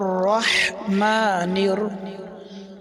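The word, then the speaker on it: رحيم: রহিম, এটাও বড় হা, গলার ভিতরে হালকা চাপ দিয়ে বলতে হবে, বাতাস বের হবে। রহিম। যদি কেউ বলে রহিম, গোল হা বা ছোট হা দিয়ে যদি কেউ বলে রহিম, তাহলে নামাজ হবে না।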